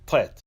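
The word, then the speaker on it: ט: The next letter of the Hebrew alphabet is a Tet. The Tet has a numerical value of 9. The Tet is pronounced as a T.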